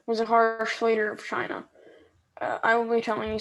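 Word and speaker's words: Qin: to pronounce it um i know you want to think but because it's a queue but it's actually so chin chin she i'm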